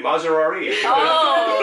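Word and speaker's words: Maserati: 우리는 명품 방송에 명품 진행자 마세라티에서 스폰서 올 수도 있어요. 마세라티. 우리 마세라리. 좋아요. 마세라티 아니, 마세라티 아니에요. 그게 원래 마세라티라고 하더라고요, 한국에서.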